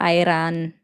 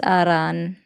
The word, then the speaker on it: Iran: It's not an I, it's an E. I know you want to try so hard, but it's not Iran. It's Aran.